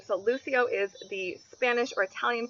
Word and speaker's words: Lucio: light really great meaning this can of course also be pronounced bucio however Spanish speakers would more likely go with the Lucio pronunciation there is a Brazilian